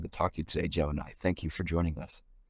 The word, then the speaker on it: Jemini: Today we're interviewing Jemini Powell. She is a WFP. Did I pronounce that right?